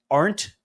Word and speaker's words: Arndt: Do I say it right? Arndt? Gary? Yep, you got it. One hard Germanic syllable.